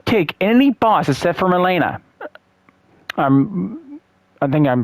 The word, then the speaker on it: Melina: how like you take any boss except for Milena. I think I'm pronouncing her name right. Melina.